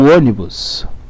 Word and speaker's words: ônibus: O ônibus Vamos separar as sílabas. Opa. Vamos lá. Vou tentar fazer certinho. Ônibus, certo? Sílaba tônica, o. Ônibus, ônibus. Sílaba tônica é a antepenúltima, portanto é uma proparoxítona.